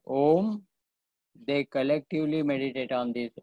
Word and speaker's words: Om: But the wise people, kavayaha vedayante, the wise people collectively meditate upon Om, A, U and M collectively, pronounced as Om.